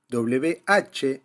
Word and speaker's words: where: Hay una palabra muy similar, W-H-E-R-E, where, que significa dónde y que es más abierta.